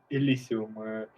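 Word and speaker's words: Elysium: I think it it is said Elisium if I remember correctly the pronunciation that was used during the game awards.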